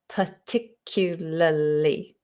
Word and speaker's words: particularly: particularly is another word particularly particularly five syllables big word particularly particularly per not